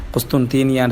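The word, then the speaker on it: قسطنطينية: முதல் குஸ்தன்தீன் என்பவர் அதை வெற்றி கொண்ட பின்னால அந்த பிரதேசம் வந்து குஸ்தீனியா அப்படி என்று சொல்லி குஸ்துன்தீனியான் என்று சரியாக உச்சரிக்க வேண்டும்.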